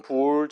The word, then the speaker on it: bool: 그래서 BOOL 보통 불 정도로 발음하는 그 형식이라 봐주시면 돼요.